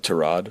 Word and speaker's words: Tyrod: Correctly pronounced Terrod, but he doesn't correct people.